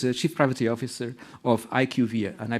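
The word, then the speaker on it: IQVIA: us Kim is the chief privacy officer of Ike UVA and I pronounced it right I plain I trained before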